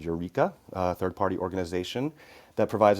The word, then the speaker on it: Ureeka: We want to provide ongoing support, and Eureka helps us do that. It's spelled Ureeka, in case anybody's curious and wants to look them up.